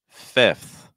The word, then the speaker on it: fifth: So we have that F sound that's followed by that TH. And I'll be honest, we need to pronounce both of them. We can't just do an F, okay?